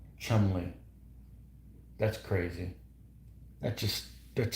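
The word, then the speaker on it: Cholmondeley: what about ch modelli ch pronounced Chumley that's crazy that just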